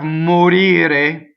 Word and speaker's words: morire: So everything is going to be closed in this word because the accent is on the E. We only worry about stressed vowels, right? So the O and the E are closed.